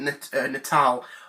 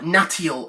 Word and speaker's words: Natal: with the whole Project Natal, or Natial as I used to call it, because I didn't know how that you pronounced it, so I didn't.